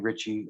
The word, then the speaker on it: Richie: Just search my name, Richie, Riche, no T, just named like Richie Rich. I was named after Richie Rich, Rchie, and, or pronounced.